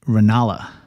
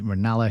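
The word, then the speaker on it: Ranelagh: come to the rescue with a correct pronunciation of lady ranala that's lady ranala his sister his sister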